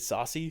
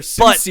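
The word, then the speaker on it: Soucy: And we were pronouncing it Saucy. Yeah. Yeah, and then he even said it in sync. It's Tyler Susie.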